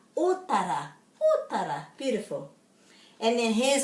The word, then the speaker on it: Otara: Otara, otara, otara. The O is always o and the A is always a. Otara, otara.